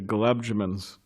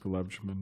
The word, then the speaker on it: gulab jamun: was apparently really into gulab jamans, those sweets, like little donuts or whatever. Or gulab jabos, what is it? What is it? One devotee said some kind of mispronounced gulab jamun, knew Bhakti some time